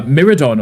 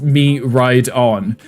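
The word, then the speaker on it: Miraidon: When we were playing through um Scarlet Violet, I was calling it uh Miridon or something, right? And everyone was like, "No, it's actually just pronounced me ride on."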